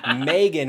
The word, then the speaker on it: Megan: And for the first time ever, dropping in, if I do say so myself, the homie Megan, which you pronounce like the month and not like the megalodon.